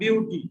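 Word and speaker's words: but: বিউটি, এটা উচ্চারণ করবে বিউট, বাট বলবে না, বিউট, উচ্চারণটা হবে বিউট, বিউট, ঠিক আছে।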